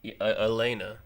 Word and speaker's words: Elena: Привет, Elena. I think that's how you say it. Elena. Elena. Yeah, there's no ya. It's Elena.